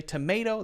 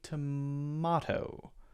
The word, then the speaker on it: tomato: totally biased 100 tomato Americans will say tomato there's an a sound there and British the British accent might be more likely to be tomato more of an ah sound there a diff slightly different vowel sound and again that's oversimplified